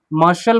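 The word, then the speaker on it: muscle: For example देखिए एम यू एस सी एल ई, इसको क्या पढ़ेंगे, मसल पढ़ेंगे, क्या पढ़ेंगे, एम यू एस एल ई मसल, सी क्या है यहाँ पे, साइलेंट है।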